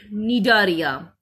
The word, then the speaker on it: Cnidaria: It starts with C, but pronunciation will be Cnidaria or Coelenterata.